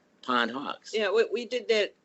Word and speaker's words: Pondhawks: the beginning just because the word you know pondhawk together may not have you know made any sense in and people were mispronouncing it so we separated them and then it was easy for them to remember right pond and hawks and hawks I like